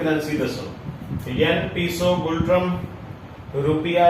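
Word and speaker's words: Ngultrum: N silent है, गुल्ट्रम इज the currency of Bhutan.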